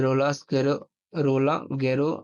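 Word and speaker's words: Roland Garros: तो ये रोला गैरो, इसको कैसे प्रोनाउंस किया जाता है?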